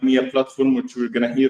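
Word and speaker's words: Mia-Platform: Did I introduce MIA Platform correctly?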